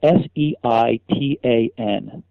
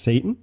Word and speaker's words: seitan: no I don't expelled se i ta n this seitan there you go you said it right here's how they say in the health of story no it's called seitan uh-huh really that'd be like